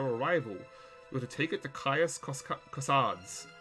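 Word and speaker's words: Caius Cosades: with a ticket to kaios kossads kaios kossads uh that like every each race has their own way you're supposed to pronounce them i i i did brush up on my latin uh in the town of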